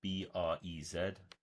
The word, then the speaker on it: BREZ: It's actually spelt BREZ, B-R-E-Z, but apparently it's pronounced BREZ.